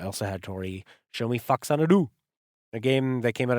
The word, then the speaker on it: Faxanadu: Although, what did Tori call it? Faxandu? Yo, bro, you want to eat some Faxandu? Yo, bro, get that paperwork together. We're going to fax and do it tonight. But I think Chris, the other playing partner I've had on Metroid and some other games, Super Mario 3, I think he's always called it Faxanadu. And he likes to pronounce things correctly.